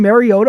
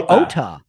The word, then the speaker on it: Mariota: Washington starting their backup quarterback, Marcus Mariota, which by the way, were we mispronouncing Mariota all these years? Did you hear Tariq and Collins say it all game long? Mario. Marota.